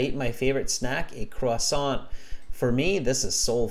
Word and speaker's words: croissant: interesting, and I eat my favorite snack, a croissant. I can never spell it, French word, croissant, something like that.